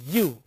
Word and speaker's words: ewe: That is why I have written in the beginning EWE. So, that is when you pronounce the word, that is you, that is not you. So, it also affects the pronunciation part, affects even the grammar part. For example, if you say I have seen dash EWE grazing or on a road, you cannot say an you, you can say a you.